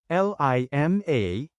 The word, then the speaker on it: lima: number four in Tagalog change a ah then pronounce it as AB l i m a is five in Tagalog change I to the